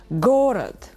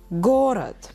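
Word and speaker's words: город: be like this and the stress will be for the first syllable for the first vowel gored gorad and again just to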